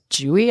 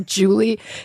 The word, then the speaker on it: Julie: say what's your name I'd be like jwy and they'd be like jewy I'd be no Julie it was just it